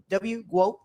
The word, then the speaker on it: GWOAT: Does it Is it Goat? Is that Is that how it's said? Yes, like goat, but w goat, yeah.